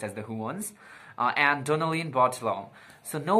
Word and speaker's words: The Juans: You guys told me that it's pronounced as the Juans, and Donnalyn Bartolome.